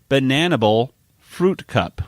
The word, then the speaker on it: Bananibal Phrewtkupp: In other words, it's pronounced Bananibal Phrewtkupp. Mm-hmm. Bananibal Phrewtkupp. It's just be a little bit like Hannibal Lecter too. Oh, you're right. Bananibal, Like instead of Hannibal Lecter, it's Bananibal Phrewtkupp.